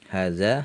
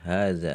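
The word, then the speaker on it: هذا: yang dekat e Muzakar hadza hadani haulai dekat muannas Hadi hatani haulai ya di sini huruf han-nya meskipun tertulis pendek harakatnya tapi dibacanya panjang ya hadza Bukan hadza tapi hadza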